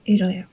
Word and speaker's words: धन्यवाद: How do you pronounce it? You say "धन्यवाद" (Dhanyabad).